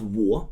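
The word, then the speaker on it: 我: It's pronounced war w war like we saw and it means I.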